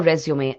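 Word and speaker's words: résumé: Resume is a French word. The accent on the letter E in both places gives it the sound that makes it different from the word resume, which in English means start again.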